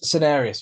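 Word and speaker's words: cinereous: I second this with the I don't know if I'm going to pronounce this properly. Cinereus vulture. Cinereus vulture? Yeah, Cinereus. Cinereus vulture, thank you.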